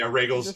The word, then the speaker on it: Rhaegal: And it's Right, just, and then yeah, Rhaegal's just yeah, Rhaegal's in the halls of the Red Keep, naked, going, "Look what I can do!" yeah. My name's Rhaegal. It rhymes with bagel, and he's just running